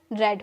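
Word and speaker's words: read: मैंने अभी बताया था ना कि थर्ड फॉर्म के रूप में यूज़ करोगे तो इसकी प्रोनाउंसिएशन रेड होगी।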